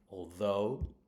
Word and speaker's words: although: Although, again, it's on the second syllable.